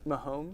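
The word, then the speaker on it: Mahomes: mom's it's close enough mahomey how do you say it my homes my homes like m.a homes my homes my homes sound it out with me my home homes that's it we gotta look at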